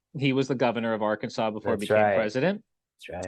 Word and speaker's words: Arkansas: Old State of Arkansas not our Kansas even though it's spelled or Kansas um but it's Arkansas so to throw that W in there even though there's no W um so uh Arkansas